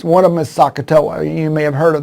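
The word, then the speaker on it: SOHCAHTOA: to remember and it's one of them is sakatowa you may have heard of that one and it's the and it's spelled s-o-h-c-a-h-t-o-a sakatoa now the problem is the spelling of it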